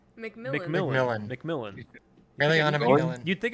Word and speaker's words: Macmillan: No, it is McMillan. Macmillan.